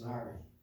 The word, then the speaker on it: ASNRI: acronym we've been learned, and it's pronounced as NARI.